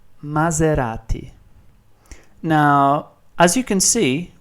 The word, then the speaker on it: Maserati: For instance, the word zoo has exactly the same sound. So Maserati.